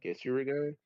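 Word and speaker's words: Ketsuryūgan: Katsurigan, yeah. Hmm. Kits Uriga.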